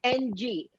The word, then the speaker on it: Ng: So they have a heck of a time pronouncing NG, which we can say in Cantonese like a grunt.